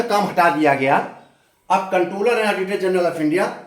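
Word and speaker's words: Comptroller: अब कंट्रोलर लिखा गया है, देखिए पी है। कंट्रोलर को हम जब प्रोनाउंसिएशन करेंगे तो कंट्रोलर ही बोलेंगे, पी साइलेंट है, क्योंकि यहाँ इसका मतलब नियंत्रक ही है, नियंत्रक एवं महालेखा परीक्षक।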